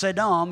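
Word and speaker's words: סדום: cities Sodom and Gomorrah Sodom 5467 pronounced sedam is the root of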